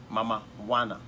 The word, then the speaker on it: Mamajuana: is very interesting called mamajuana but actually if you are not careful the way it's been pronounced is mama wanna not like Maradona so it's it kind